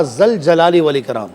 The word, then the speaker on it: ذوالجلال والاکرام: تو صوفیہ فرماتے ہیں کہ تلفظ کے اعتبار سے دیکھا جائے, عربی لغت کے اعتبار سے دیکھا جائے تو یہ پڑھا جائے گا یا ذوالجلال والاکرام.